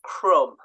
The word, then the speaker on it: crumb: they are always silent so the silent B so examples Crum lamb also comb there is a b at the end but we never hear it so that again they're